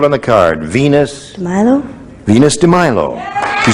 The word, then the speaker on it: Venus de Milo: I'm not sure if that's how you pronounce it. Venus de Milo is correct. Well done. She says Venus de Milo will match you for $2,500.